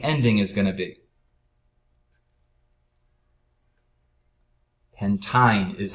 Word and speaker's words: pentyne: Pentyne is how you would pronounce this.